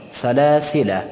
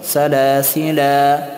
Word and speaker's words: سلاسلا: آیه 4 ذکر شده، در این کلمه هم حرف الیف در حالت وصل تلفظ نمی شود. سلاسله نمیگیم که سلاسله، نخیر، سلاسله، اما در حالت وقف تلفظ می شود سلاسلا سلاسلا در حالت وقف.